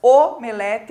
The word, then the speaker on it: omelete: timbre né né então o que seria correto de acordo com a norma padrão da língua timbre fechado e e o nas palavras omelete alcova e crosta né então esse o